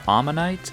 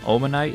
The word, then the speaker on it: Omanyte: These Pokémon are Omanyte and Omastar. But I've always called them Omanite and Omastar, which is only slightly different, but still incorrect I suppose.